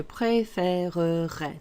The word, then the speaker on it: préférerais: And it's je préférerais. There are 4 syllables there. Préférerais. Take your time when you're saying it.